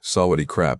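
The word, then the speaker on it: สวัสดีครับ: The first lesson he had me say, "Sawadi crap," about 14 times, until I stopped flattening the tone on the second syllable.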